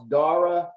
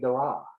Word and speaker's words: Dora: call all right is is your name pronounced dara dara uh try again dura just to keep it in excuse me excuse me that's that's what is that how they they say dora yes exactly i like that i